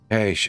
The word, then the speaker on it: cache: Cash. Ah, it is cash. It is cash, apparently.